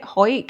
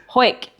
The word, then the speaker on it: Howick: They maybe have seen it on the map, because I'd only ever heard my gran and my mum say it, Hoik, and but then when it's spelled like Howick, which is fuck.